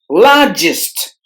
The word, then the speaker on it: largest: the first syllable Cambridge largest largest largest the letter R is silent in this word largest together the letter